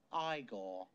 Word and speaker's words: Igor: it's Frederick Frankenstein I see you must be eigor now it's pronounced igore but they told me it was Eagle well